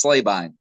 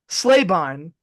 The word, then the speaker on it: Slabine: it up it's it's totally fine um it's slay Bine slay Bine that sounds way that sounds badass though that's